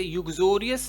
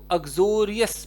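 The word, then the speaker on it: uxorious: इसको यू नहीं पढ़ेंगे, इसको ऐसे युग्जोरियस नहीं पढ़ा जाता, इसकी प्रोनाउंसिएशन एक बार चेक कर लीजिएगा। इसको अग्जोरियस पढ़ा जाएगा, अग्जोरियस।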